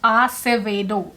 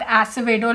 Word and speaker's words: Acevedo: then I know that her name is pronounced Acevedo. It's not Acevedo like I used to pronounce as well. It took me a while, but I learned it.